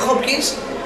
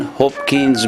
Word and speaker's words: Hopkins: Adrian Hopkins Burga, age 19. Now, I don't pronounce the H, but he does.